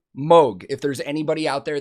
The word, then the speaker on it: Moog: say moog all the time it is 100 pronounced moog if there's anybody out there that has any